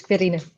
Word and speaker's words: Quirine: Okay, so we'll do, is it Quirine? How do you pronounce that? It's Quirine. Quirine, okay.